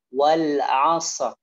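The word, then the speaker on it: وَالْعَصْرِ: Wal 'asr gitu ya. Jadi wal tidak boleh maju mulutnya. Wal 'asr. Asr enggak boleh. Wal 'asr.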